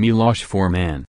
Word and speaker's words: Milos Forman: touch with his homeland he pronounced his name Milosz for man he likes you to